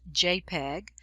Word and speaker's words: JPEG: us insert university dot jpg often pronounced jpeg so this will be